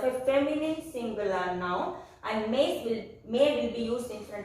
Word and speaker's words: mes: And then again for plural, we will write irrespective of the gender, we will write MES, pronounced as may.